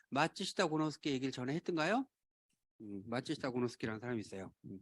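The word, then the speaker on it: 松下幸之助: 마츠시타 고노스키라는 사람이 있어요. 또 읽겠습니다. 이걸 송하라고 읽으면 안 돼요. 일본 말이에요. 일본 사람 마츠시타라는 거.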